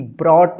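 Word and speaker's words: brought: ब्रॉट देखिए य प बी आर ओ यू जी एच टी ब्रॉट में जो है ना साइलेंट है ठीक है ही लेबर्ड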